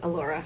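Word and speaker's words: Elora: And Allura, that's how you say it, Allura.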